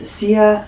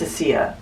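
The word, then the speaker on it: Sézane: It's Sezane. I think it's Sezane. No, it's Cassia or Sezane. It's a hard C, a soft C.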